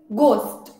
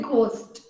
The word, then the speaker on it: ghost: So now this is ghost. Otherwise, I hear a lot of people say ghost. So the H is silent. It's ghost. Now handsome.